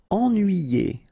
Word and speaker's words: ennuyé: Ennuyé. Okay, so first en, then nuit, then yé.